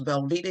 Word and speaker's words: Velveeta: everyone my name is velveeta yes it's pronounced like the cheese last name young and